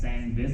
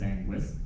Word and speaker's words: Sangvis: So I know like one of my friends keeps pronouncing it as Sangvis. It's not Sangvis, it is Sangwis Berry.